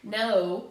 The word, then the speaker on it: know: Remember, this K is silent. I don't say k, no, canal. I say no.